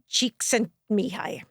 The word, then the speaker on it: Csikszentmihalyi: The way I do it is phonetically. So it's Mihai Csikszentmihalyi.